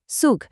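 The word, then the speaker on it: Zug: জেড এর উচ্চারণ হয় সের মতো, যেমন সুগ।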